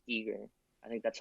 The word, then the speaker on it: Giger: I mean, yeah, the pronunciation would be Yeah, anywhere, pretty much anywhere in Europe, it's going to be Giger, I think.